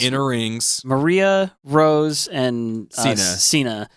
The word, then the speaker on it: Sina: Maria, Rose, and Sina. Right, but they say it like Shina. Yeah, they say. I don't want to be a gaijin. So. In Japanese, Shina.